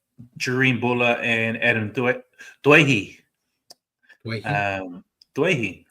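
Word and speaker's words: Doueihi: Dwayhe. Oh, that's how it's said, isn't it? I think so. I still hear people calling him Dewey.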